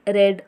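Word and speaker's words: read: ही रेड a book यहां पर रेड pronounce किया गया है रीट का सेकंड फॉर्म होता है रेड और थर्ड फॉर्म होता है रेड तीनों की स्पेलिंग सेम होती है लेकिन प्रोनंसिएशन तीनों का अलग होता है है रिड रेड रेड यहां पर लिखा रीड है क्योंकि स्पेलिंग सेम होती है लेकिन इसे प्रोनाउंस करते हैं रेड रेड पढ़ते हैं ठीक है तो आप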